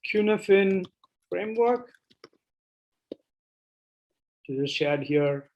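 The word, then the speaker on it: Cynefin: there's a framework called cuneifin framework which is shared here in the chat it's i think it's irish or welsh i'm not sure it's it's pronounced cuneifine um and it's a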